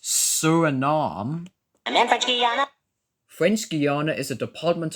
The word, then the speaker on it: Suriname: It's pronounced Suriname.